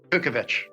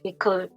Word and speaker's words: Kukovich: Barry Yeah, but pronounce the surname again. Kukovich. Yeah, Kukovich.